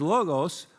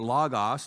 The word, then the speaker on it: logos: is this group biologos because logos or logos depending on how you pronounce the Greek word is word so this